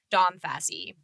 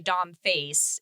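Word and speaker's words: Facee: by their instagram names i thought your name was dawnfassy domfassy all right but it's actually dom face is the thing that's how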